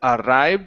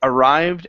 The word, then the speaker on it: arrived: Give me good Rs here instead of arrived with a rolled R. Okay, even though there's two, it's only one R sound. It arrived at his doorstep.